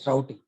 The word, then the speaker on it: routing: routing it is not rooting students team remember it is not rooting please don't pronunciate like routing it is routing how can you give